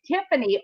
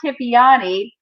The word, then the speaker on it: Tiffany: right, Christine Olson, S-O-N, of Swedish descent, and it's Tiffany Olson. It's not Tiffiany.